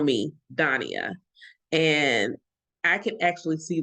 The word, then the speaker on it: Daniyah: And so I spent decades not making people call me by my actual name, Daniyah.